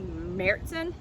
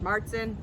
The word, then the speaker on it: Märzen: So my favorite style of beer in particular is a Märzen or Marzen. It's pronounced a variety of different ways, and we just released ours at Thompson Island.